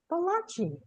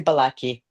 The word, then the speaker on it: Balaki: today, returning, is Balachi. I didn't say it right, Hi, did I? Did I say that right? it's Balaki.